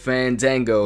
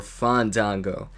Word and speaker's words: Fandango: again this time though with fandango or fondango uh yeah i think it's fine dango anyways uh he introduces fantango fandango says no you're not saying it right you're supposed to say fun go something like that and match tracker keeps